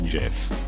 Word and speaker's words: GIF: It's gif, as in goat. Hard G.